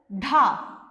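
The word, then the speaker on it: ध: Next one is dha. So you can hear a small H sound.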